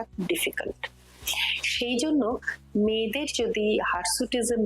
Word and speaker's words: hirsutism: সেটাকে আমরা একটা কন্ডিশন বলি তার নাম হচ্ছে হারসুটিজম হার সুটিজম যদিও বানানটা হার নয় এইচ আইর হারসুটিজম কিন্তু একটা